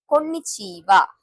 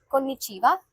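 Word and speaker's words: こんにちは: Konnichiwa, Konbanwa. At last, we are pronouncing this ha letter as wa. This has to be noted because pronunciation of these two words is the exception in greetings. Konnichiwa, Konbanwa.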